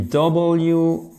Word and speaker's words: wreath: Ça s'écrit W-R-E-A-T-H. Et vous ne prononcez pas le W.